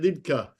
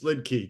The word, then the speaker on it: Liedtke: You just, if you're in Germany, you say it Liedtke. If you're American like we are, it's Liedtke. Just a lid and a key, Liedtke.